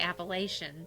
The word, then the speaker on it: Appalachia: I think we usually say Appalachian. See, that's how I've always pronounced it. But I think there it's Appalachia. Yeah, she said it's Appalachia. There's a latch in the middle.